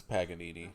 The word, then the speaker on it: Paganini: You butcher the Italian language. No, it's Paganini.